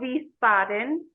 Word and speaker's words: Wiesbaden: in a city called Wiesbaden starts with a w but they pronounce it like a V so thank you Germany